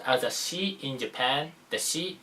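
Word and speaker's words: 士: This is called pronounced as a shi in Japan.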